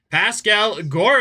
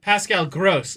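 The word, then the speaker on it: Pascal Groß: I believe it's Pascal Gross is how you pronounce it from what I researched.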